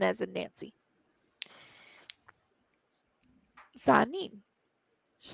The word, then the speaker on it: Sehanine: Sahanin is spelled Sehanine. N as in Nancy. Sahanin.